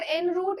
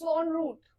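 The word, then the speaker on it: en route: द वे ठीक है सो इट्स नॉट एन रूट इट्स ऑन रूट इसको हम ऑन के जैसा प्रोनाउंस करेंगे ये तो रूट ही रहेगा ठीक है ऑन द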